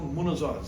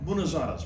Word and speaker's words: munazara: been at the forefront of what we call munazaras. These are debates. están al comienzo de lo que son debates. For hundreds of years. Monozars. They've had munazaras.